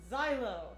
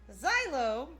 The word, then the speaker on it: Zielo: we're gonna start drawing silo silo yes that is how his name is correctly pronounced is it unique per